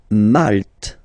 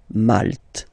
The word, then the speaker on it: Malte: Malte. Same thing here, you don't insist on the final E. Malte.